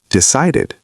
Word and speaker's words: decided: Decided sounds like ID because it ends in D.